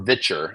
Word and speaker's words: Viture: it's called Viture or Vitcher, I think is how they pronounce it.